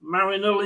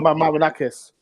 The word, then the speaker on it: Marinakis: Evangel Marinol, is it pronounced? I'm useless. Evangel Marinakis.